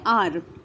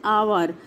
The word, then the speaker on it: hour: Baba bolenge beta ye to H se start hai, to yahan pe beta it is, iska jo pronunciation hai, wo hai hour, not hour, it is hour.